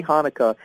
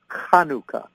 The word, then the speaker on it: Hanukkah: pronounce it we say Hanukkah but in the Hebrew it's Hanukkah that's why sometimes you'll see it with a CH but that's the guttural so it's just Happy